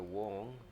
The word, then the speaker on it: 黃: it's very interesting that we have different way to pronounce it for different people with this kind of family name for example in hong kong we say mr wong but in in mainland